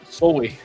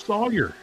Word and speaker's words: Sawyer: Soy. She said soy. How do you get that out of Sawyer?